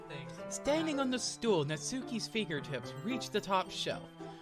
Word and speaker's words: Natsuki: Natsuku. I mispronounced her name. I'm gonna get so many comments from weebs like, no, that's not how you say her name. It's Suki.